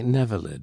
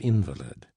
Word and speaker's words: invalid: For instance, they say Nevelid instead of invalid."